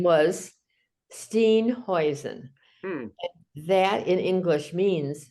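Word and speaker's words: Steenhuisen: settlements in uh South Africa and the correct pronunciation would be Steen hoisen because I've said stain ho over there years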